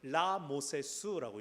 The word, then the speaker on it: 람세스: 우리가 잘 아는 바로 람세스라고 부르는데 람세스도 원래 이집트식으로는 라모세스라고 읽어야 됩니다. 라모세스.